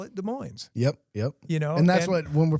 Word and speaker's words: Des Moines: And the locals call it Des Moines.